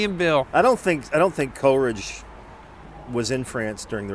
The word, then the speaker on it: Coleridge: Coleridge, yeah. Yeah. One of. British, American. Yep. Coleridge. Sammy. Yeah, good old Sammy. Sammy and Bill. Sammy Taylor. Sammy and Bill. I don't think Coleridge was in France during the Revolution.